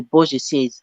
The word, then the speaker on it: bourgeoisie: it's like Oh, French. okay. Bourgeoisie. Bourgeoisie. It has three syllables.